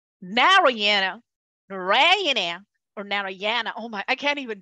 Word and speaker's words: Narayana: so the word in Sanskrit there is no syllable stress so the name of our let's take a let's take a narayana ayurveda anybody want to say that for me